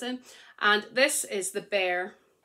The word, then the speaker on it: Bere: B-E-R-E, it's pronounced Bere.